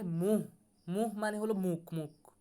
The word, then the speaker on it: मुंह: তারপরে तुमने मेरे सामने मुंह खोलने की जुर्अत कैसे की, तुमने मेरे सामने মুহ হবে মুন, এখানে দেখেন উচ্চারণটা একটু খেয়াল করি, এটা হবে মুহ, মুহ মানে হলো মুখ, মুখ কি হবে?